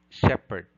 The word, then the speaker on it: shepherd: common attribute your answer the answer is letter b the phoneme h is silent thus we say air honor honorarium exhibit shepherd item number 45 what